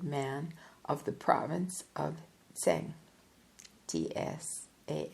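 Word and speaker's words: Tsang: foreigners call the Tashi Lama Tibetans call him sang pesan rishe the precious learned man of the province of sang TS a n g he is considered to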